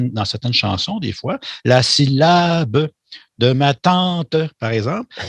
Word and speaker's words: syllabe: Donc, par le mot syllabe, je veux dire syllabe, l'accent est sur le mot lab.